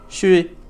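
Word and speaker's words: 水: have three dashes or dots on the left pronounced as shui.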